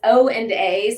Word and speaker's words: OANDA: at um was it um how do I pronounce this oanda yeah so interestingly enough it's o and a so it's oanda but it's olon and Associates